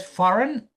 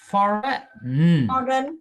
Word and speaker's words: foreign: And then in the word foreign, we don't pronounce the G that. So the G is also a silent sound. Yeah. We don't pronounce that G. So it's for foreign.